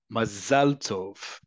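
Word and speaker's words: מזל טוב: First off, in modern Hebrew, listen to how I pronounce it. It is not what you um often times transliterate as m a z e l. That is a um pronunciation that's closer to um Ashkenazi Hebrew and their accent. In Hebrew again, remember, accent is on the last syllable.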